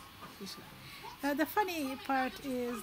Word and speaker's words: Vizsla: Again, it's a Vizsla. Vizsla.